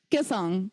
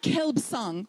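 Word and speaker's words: Kelsang: Kilsang. Kilsang. But it's not Kelbsang. Why? Why don't we say Kelbsang? There's no vowel preceding it, absolutely.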